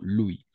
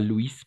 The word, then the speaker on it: Louis: On va prononcer Louis, d'accord? Louis. Pas Louis, parce que Louis, c'est féminin.